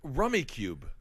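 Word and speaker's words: Rummikub: You know Rummy Cube.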